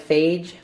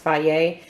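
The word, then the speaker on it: Fage: brand it's spelled f-a-g-e it looks like phage but it's actually pronounced Faye that brand to me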